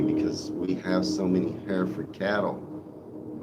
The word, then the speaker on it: Hereford: Oh, see, that one's hard for me because we have so many Hereford cattle, and we pronounce it Hereford. But you call it Hereford or Harford. You pronounce it different. That one's hard, but I might avoid that city because of it.